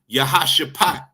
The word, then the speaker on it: Jehoshaphat: into the valley of Jehosaphat you understand or uh uh it's pronounced in the Hebrew yahasat you understand which means